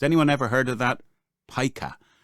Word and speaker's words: pica: Pica. I think it's spelt Pica, but it's pronounced pica.